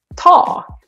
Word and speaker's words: tak: But this one is spelled with just one consonant. And it's okay, ta.